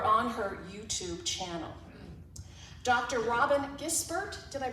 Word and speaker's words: Robyn Gisbert: Robyn Gisbert, did I pronounce that correctly?